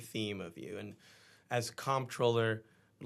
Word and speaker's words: comptroller: It's like the the word is, you know, it's um it's a French spelling of an English word.